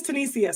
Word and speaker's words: Tanisia: am i saying okay tanish tunisia okay not today oh so it is tunisia so i said it right okay listen i